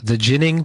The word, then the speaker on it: Ginning: Is it the Ginning podcast? Yeah, really close. It's hashtag Ginning. Like winning. Ginning? Yeah, Ginning. Okay, winning, Ginning.